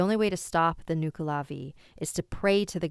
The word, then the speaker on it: Nuckelavee: So if there's anyone Irish in the chat, please let me know how it's pronounced. It's Nuckelavee, Nuckelavee.